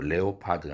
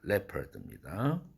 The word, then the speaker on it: leopard: leopard죠. 표범이란 뜻인데 leopard가 아니라 leopard 이겁니다. 옛날에 구두 만드는 브랜드가 레오파드 구두가 있었는데 잘못된 발음 표기였죠. 레오파드가 아니라 레퍼드입니다.